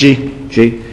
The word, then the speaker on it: Gee: How's that name pronounced? G.